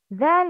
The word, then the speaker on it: ذ: Okay, the difference between dal and zal, one dot above the letter. Yes. The tip of the tongue should come up during pronouncing that.